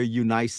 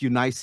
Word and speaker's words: Eunice: first in your grandmother Lois and your mother Eunice. It's Eunice in the Greek. We pronounce it Eunice, you know, in everyday language.